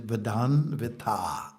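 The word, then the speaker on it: मदान्वित: Vadanvit, the pronunciation, Vadanvita. Ah, it's a long A.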